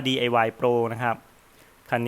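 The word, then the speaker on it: DIY Proo: นะ ครับ แล้ว ก็ DIY p r o o ที่ อ่าน ว่า DIY โปร นะ ครับ คัน นี้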